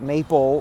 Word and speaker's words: maple: Maple, the L sound at the end. He's like, L? Yes. Anything else? I don't know. An E, and the E is silent, and it makes the A long A sound.